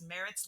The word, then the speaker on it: Maritz: Is it Maritz or and I'm like, no, it's Maritz like carrots.